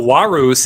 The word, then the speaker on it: Varys: I mean, we can go Warus if you really want. Go for that proper Latin pronunciation.